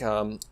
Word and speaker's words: Rytle: Right, as in like Yeah, like Reitel.